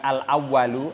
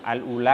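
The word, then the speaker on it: الأولى: Al Samrotul Alula Hai bacanya bukan awwalu Alula karena back as Samrotul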